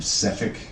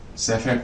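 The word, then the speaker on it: Sephek: A man named Sephic Caltro. S-E-P-H-E-K. Don't worry about it. We'll make it sound right. Sephic Caltro. It's spelt phonetically. She exhales, looks around. Everyone seems to be distracted. Sephic works for a small travelling merchant.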